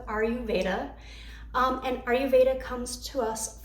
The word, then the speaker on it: Ayurveda: I've heard that pronounced different ways. I'm going to stick with Ayurveda.